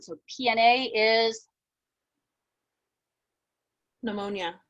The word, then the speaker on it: pneumonia: silent so pna is pneumonia pneumonia very good right yeah the p sound did i say the a is silent that the p is silent so it really should